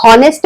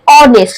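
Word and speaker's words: honest: আমরা তো বলি না হনেস্ট ম্যান, হনেস্ট ম্যান বলি না, আমরা বলি অনেস্ট। তার মানে আমরা এইখান থেকে শুরু করছি। এইচ হচ্ছে সাইলেন্ট, তাহলে যদি আমি এখান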